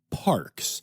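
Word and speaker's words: PaRx: So the Toronto Zoo is the first zoo to participate in a program with Parks, which is sounds like parks, but it is spelled P-A, then capital R-X, like prescription, which is a natural prescription plan that is being piloted right now in Canada.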